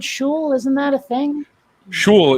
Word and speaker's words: shul: Was that It's pronounced shul.